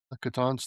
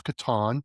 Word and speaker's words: Catan: And last year they celebrated Catan's 30th anniversary, where I learned that it's Catan, not Catan, because it's how Klaus pronounced it.